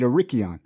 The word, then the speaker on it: Arrichion: all that stuff with a ricky on is that how you that's how you pronounce it right a rickey on yeah right yes um yeah